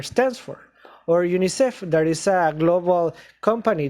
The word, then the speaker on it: UNICEF: letters okay let's see which are the abbreviations that are pronounced as words we know that aids also narrow then OPEC also pin this is the same in Spanish and UNICEF excellent so the rest of